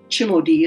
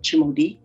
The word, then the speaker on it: Timothée: 1859 to late 1800s, early 1900s, the fourth generation, Timothée or Timothy, Chimodi is what how the Cree people pronounced it, Chimodi, was my chaplain and